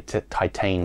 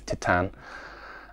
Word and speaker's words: Titane: And as I said, Titane, I keep trying to say Titane, but the actual pronunciation of this film is Titane, is very much about love and identity.